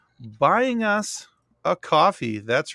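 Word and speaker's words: Ko-fi: there's also a k it's spelled Kofi but they pronounce it coffee who am I I'm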